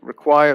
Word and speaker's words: require: So again, stress remains on the second syllable, require, requirement.